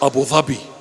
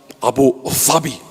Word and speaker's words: Abu Dhabi: In Arabic, it's Abu Dhabi. Abu Dhabi. Not Abu Dhabi. That's the Arabic pronunciation, Abu Dhabi.